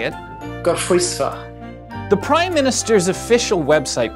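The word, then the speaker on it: Gorffwysfa: It's a Welsh word. Gorfwisva. Or as the Welsh would correctly say it, Gorfwisva.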